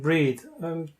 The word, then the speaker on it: breathe: two words breath and breathe to differences is in the way, the EA diphthong is pronounced as well as the TH is pronounced.